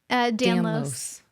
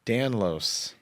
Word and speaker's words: Danlos: Danlos. Danlos.